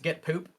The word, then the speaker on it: GitPOAP: Yeah, and so this actually, even though it's spelled POAP, it's pronounced Get Poop.